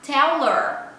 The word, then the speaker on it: tell her: Tell her, o H, geralmente no inglês do dia a dia, não é pronunciado.